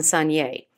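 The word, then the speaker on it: saignée: first one Sun yay Sonnier means to bleed and it's actually spelled s AI G n EE of course those French they just don't pronounce half the letters in the words but Sonnier means to bleed and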